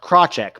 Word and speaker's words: Krawczyk: It's pronounced Krawczyk, but it's been butchered worse.